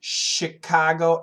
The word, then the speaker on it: Chicago: it Chicago and Michigan why is it sh I don't know I'm guessing because it's Indian uh American Indian words Chicago and Michigan are American Indian words and the French the French people first came to the area the Midwest so many of the words have a combination uh French spelling and even French pronunciation that's probably why hi from Turkey hi